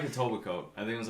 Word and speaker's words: Etobicoke: We But- were like a Tobacoke. I think it was like a Tobacoke. Yeah. Which is a really weird municipality name to say. Tobacoke.